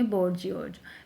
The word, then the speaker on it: bourgeois: जो middle class से belong करता है, बोर्जियोज, इसे बोलेंगे बोर्जियोज। इसे देखो लास्ट में इज आ गया, बोर्जियोज। इसकी स्पेलिंग भी इम्पोर्टेंट है, इसकी स्पेलिंग भी हम राइट डाउन करके देख लेंगे एक बार, बोर्जियोज।